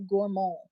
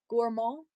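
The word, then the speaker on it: Gourmont: Gourmand. It's not gourmand. It's gourmand. There's no T at the end.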